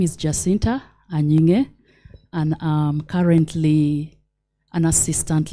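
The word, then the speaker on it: Anying: other letter yes so it is an spelled as a n y i n g now that g is silent so my name is Jinta aning and um currently an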